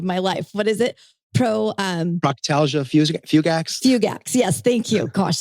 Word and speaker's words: Proctalgia fugax: the pain in the ass, because I can't pronounce it to save my life. What is it? Proctalgia fugax?